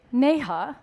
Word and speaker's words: Neha: the way all right so you're gonna say nay huh hey Nana do you